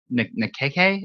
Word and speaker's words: Nikkei: The Nikkei Asian Nikkei? I don't know. Some sort of Asian review reported. KK would be one word, like bebop. Nikkei. KK is one syllable. It just lasts a little bit longer.